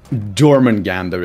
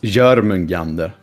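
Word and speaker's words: Jörmungandr: Same with, you know, Jormungandr is the way people say it, but, you know, it's pronounced Jormungandr.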